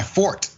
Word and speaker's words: forte: they said it's my fort. It's pronounced fort because it's like a French word.